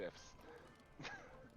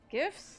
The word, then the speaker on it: GIF: for having pronounced it GIFs. Gifts? Why did you say GIF? It's a GIF. It doesn't start with a J, it starts with a G. G can be pronounced soft and hard.